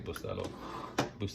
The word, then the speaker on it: Bustelo: Put some milk in here, 2%, and again, this is my go-to Bustelo. I say it like that. It's actually Bustelo, but I know people say different.